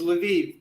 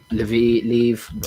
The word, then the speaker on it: Lviv: fact actually true, because Lviv, I would pronounce it Lvov myself. Okay. I think that's a Polish pronunciation, but it's very far into Western Ukraine.